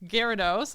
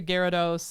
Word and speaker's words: Gyarados: how I say it I wrote out the pronunciation so Gyarados Gyarados awesome uh which are terrifying they are typically